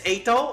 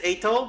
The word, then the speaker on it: Eito: Okay, I know it's Eito, I think, right? It's Eito, but I kept reading it Eito, and it's just it's in my brain.